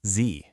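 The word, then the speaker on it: 自: The very first character is pronounced Z.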